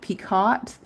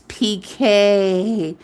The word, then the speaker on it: picot: But it's spelled P-I-C-O-T, like Picot. And I used to pronounce it Picot. Because there'd be people like, it's not pronounced that way, it's PK.